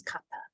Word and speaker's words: kapha: qualities like Elemental qualities Kappa it is not kapha but you'll hear that in the west a lot people make it into a sound it's not it's Kappa um Kappa um and